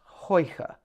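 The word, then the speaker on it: Huyghe: The brewery is pronounced Hoi ha, Hoi ha.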